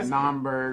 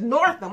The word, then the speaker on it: Northam: Yeah, Naumburg, or the Michael Jackson governor. The Michael Jackson governor. Yeah. Okay, his name is Northam. I'm sorry. Northam. Governor Ralph Northam of Virginia is under